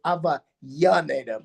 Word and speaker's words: Avellaneda: It's called Avellaneda. Most Spanish speakers would pronounce it Avellaneda, but they have their own dialect of Spanish in Argentina and Uruguay.